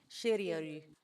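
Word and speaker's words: シリアル: Okay, so for example, if you want to know how to say cereal in Japanese, it's literally shirioru. Yeah, it's like Shirioru. shiri aru. Shirioru. That's how you say cereal.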